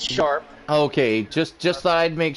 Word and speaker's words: Charpe: And I just want to confirm: is that Sharp or is that Charp? CHARPE. It's Sharp.